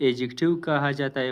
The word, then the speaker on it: adjective: यह एडजेक्टिव कहा जाता है। पढ़ा जाता है। एडजेक्टिव नहीं है। यहां पर डी साइलेंट है।